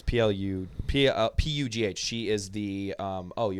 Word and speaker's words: Pugh: Probably like Pew or something like that. Florence Pugh. It might be. Yeah, it's P-U-G-H.